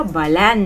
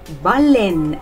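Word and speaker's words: baleine: لأ بالان لأ بالين بالين تمام.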